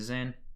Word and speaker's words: Zain: That's the Zain. Then you've got the Het, or the Het, as it is pronounced in some subdialects of the Eastern dialect.